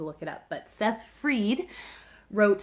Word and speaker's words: Fried: reading this yesterday that fried was not right even though that's how it's spelled and as someone with a